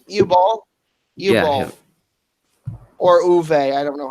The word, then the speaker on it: Uwe: Yeah, or Uwe. I don't know how it's pronounced. Yep, U-Ball. It's EWE, but I think the W is a German W, so it's pronounced as a V.